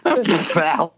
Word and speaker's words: phthalates: Phthalates. Phthalates. How do you pronounce PHTHALATES?